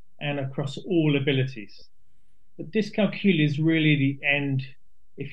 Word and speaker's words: dyscalculia: How do we pronounce it? Dyscalculia. So dyscalculia, that's it.